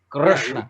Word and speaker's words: Krishna: I just want to Krishna. That R you should be able to extend infinitely. Krishna. That is how it should be pronounced.